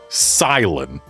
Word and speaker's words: Cilan: How is this character's name officially pronounced? Silent.